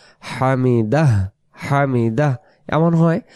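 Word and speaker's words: حمده: শেষে যদি একটা হ থাকে তাহলে কি হবে হামিদা এটা রস না হামিদাহ হামিদা এমন হয় তো এরকম করে বলতে হবে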